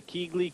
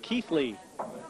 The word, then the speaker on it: Keighley: table now for the Keighley cue boy well I've just been told I've been mispronouncing Chris melling's hometown Keithley my apologies that Bulls